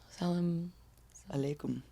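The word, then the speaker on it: as-salamu alaykum: Salam. Alaikum. Salaykum. You're missing one Salam syllable. alaikum. Salam alaikum.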